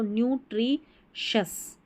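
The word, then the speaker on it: nutritious: आर आई को tree, T आर आई को पढ़ते हैं ट्री, तो न्यूट्रीशस, न्यूट्रिशस, पौष्टिक, पौष्टिक जो रहता है वो उसको बोलेंगे न्यूट्रिशस।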